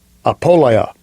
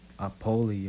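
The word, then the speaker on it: ἀπώλεια: Apoleia. Apoleia. Apoleia. That's how you say it in Greek.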